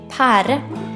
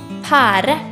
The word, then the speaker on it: pære: a pair in Norwegian a peir is called pære in Norwegian it is spell p e r e trite pære This is a kiwi in Norway we pronounce